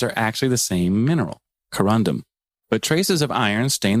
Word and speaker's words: corundum: And I think we should change the name to corundium. Yeah. I would love some corundum. I said it wrong the first time.